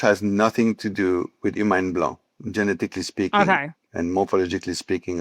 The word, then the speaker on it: Humagne Blanc: Okay, Humagne Blanc.